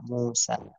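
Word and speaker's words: موسى: আবার ঠিক তেমনি ভাবে মুসা আলাইহিস সালামের নাম মিম ওয়াও পেশ মু, তিন ইয়া খাড়া দেবো সা, মুসা, ইয়াটা অতিরিক্ত আসছে, অর্থাৎ লেখায় আসবে, উচ্চারণে আসবে না।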